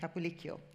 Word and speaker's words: Capalikio: So I say to the guys and girls here, think of Pinocchio. It's the same thing. Capilikio, very easy.